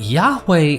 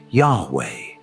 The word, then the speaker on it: Yahweh: As it's translated into YHW, which properly pronouncing his name as Yah-oh or Yay-oh, which is literally the god the Israelites worshipped later being pronounced as Yahweh.